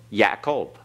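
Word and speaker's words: יעקב: all right campus remember the yod is a y sound Pat back ah so the first is yeah yeah a cold right yeah Cove Jacob it's the Hebrew for Jacob Yakov all right now when you pronounce that notice you have the uh in there yeah a Cove because it is a compound schwa all right so how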